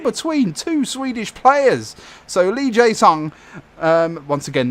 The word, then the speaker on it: Lee Jae-sung: since it in between two Swedish players so lee jae-sung once again not racist that's how you pronounce it one one there so here we